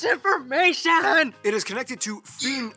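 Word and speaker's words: Fyn: it is connected to fiend island not finn island by the great belt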